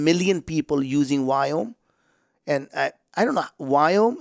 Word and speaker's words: Viome: And I, you know, as an Indian, I cannot pronounce that word V.